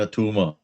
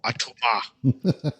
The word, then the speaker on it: Atuma: Say it like Arnold Schwarzenegger. It's not a tumor. Tumo. Atuma. Okay.